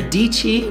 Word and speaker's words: Dietschy: his buddy Matty's channel Sarah DT rhymes with peachy mkbhd let's take a